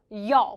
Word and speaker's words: 有: 거기 you라고 발음하시는 분들 분필이 있었으면 진작에 날라갔어요. 발음은 어떻게 돼야 돼요? 여 발음은 여 좋습니다.